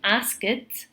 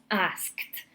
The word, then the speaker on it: asked: So with the verb ask, we do not say asked, it's asked. Okay, so we're looking to pronounce it with the T sound, but the most important thing is not to pronounce the E.